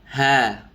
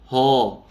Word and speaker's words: ه: Contoh ha, bukan ho, ya. Banyak orang yang mengucapkan huruf H, ho, ho. Nah, ini salah, keliru ya. Pengucapan huruf H harus ha, ha.